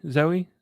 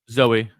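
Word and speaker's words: Zooey: they had um zoie Zoe zo zo um Zoe zoeee but it's spelled with the zoo zoo right e y did Zoe dashel or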